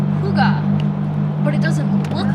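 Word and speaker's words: hygge: it's eastern Easter what I read is it's pronounced Huga but it doesn't look like that at all because it's h y g g e or something like that yeah see I would have said hi that's what I said and then then I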